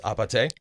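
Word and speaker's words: 아파트: played so it's short for apartment but it's pronounced apate yes and then it's because in Korean um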